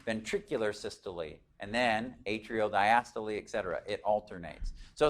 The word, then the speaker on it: diastole: When you look at those, it's like looks like systole and diastole, but it's diastole. You pronounce the E.